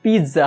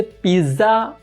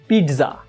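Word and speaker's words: pizza: Restaurant का अगला type होता है पिज़्ज़ेरिया या फिर पिज़्ज़ा पार्लर या फिर पिज़्ज़ा हाउस। याद रखिए इसे पिज़्ज़ा प्रोनाउंस नहीं करना है, इसे प्रोनाउंस करना है पिज़्ज़ा। पिज़्ज़ा मतलब कि ट जो है उसको आधा प्रोनाउंस करना है, पिज़्ज़ा।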